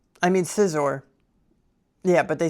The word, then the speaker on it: Scizor: it's very simple, but I heard someone say, Scizor, and it really bothered me. Scizor. I mean Scizor. Yeah, but they said Scizor.